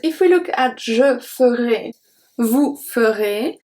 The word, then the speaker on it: ferai: Because if we look at je ferai, vous ferez, the pronunciation of ferai is exactly the same. Because AI at the end make the sound E, EZ at the end make the sound E.